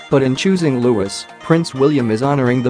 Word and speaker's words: Louis: one of his middle names, but in choosing Lewis, Prince William is honouring the memory of his father's beloved great-uncle, Earl Mountbatten of Burma. In picking Lewis, pronounced Lew-is not Lew-is, William and Kate appear